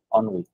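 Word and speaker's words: ennui: আছে এই যে অনু এই শব্দটার উচ্চারণ কিন্তু অনু এই যে অন উই অন উই মানে হচ্ছে এই যে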